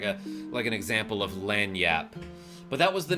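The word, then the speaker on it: lagniappe: day because he mentioned the word lanyap, which is spelled a weird way, and I'm going to try to spell it in the chat. I think it's spelled something like this, like lag-nia-pipi.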